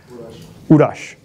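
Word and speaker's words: Uroš: Urash. Uros. It's easier like that. Oh, that's how it's spelled? Yeah, U-R-O-S. Oh. I'm Serbian, that's why.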